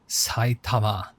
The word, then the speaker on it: Saitama: Saitama.